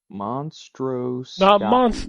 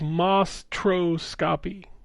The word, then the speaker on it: Mostroscopy: Monstroscopy. Not mon. It's just Mostroscopy.